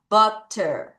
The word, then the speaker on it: butter: 근데 부터가 아니라 이 U가 발음 납니다. 해볼게요. butter.